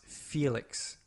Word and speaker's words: Felix: By the looks of it, That's pronounced Felix.